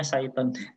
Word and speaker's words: Cython: Cython ini adalah, saya baru nyadar kalau ini bacanya Cython.